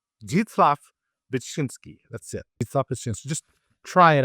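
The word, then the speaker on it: Zdzisław Beksiński: For this next one, I won't even attempt to pronounce it. I'm just kidding. It's jitslaf bshinski. Jitslaf bitchinski.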